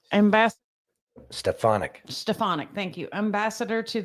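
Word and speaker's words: Stefanik: Staff Tulsi Gabbert Director of National Intelligence Elise stepanic ambass stefanic stefanic thank you ambassador to the United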